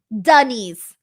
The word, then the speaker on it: Denise: Denise. Like duh and knees.